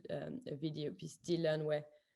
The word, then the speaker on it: Dit Learn: So, and in French, Dit Learn, Dit means to say, and learn, of course, to learn. Dit Learn, and but as you pronounce it in English, is unlearning.